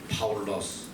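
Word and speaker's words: Παῦλος: 첫 번째 선교지에서 바울이라는 바울로스, 작은 자들. 이거는 바로 헬라식 발음이에요.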